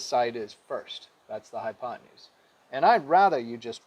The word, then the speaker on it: hypotenuse: i never write a hypo 10 use i like to say it like that only because it spells that way hypotenuse the right way to say it is hypotenuse right so it's the